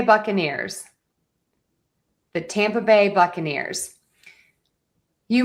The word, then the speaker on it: Buccaneers: We're primary stress is on tam and buck.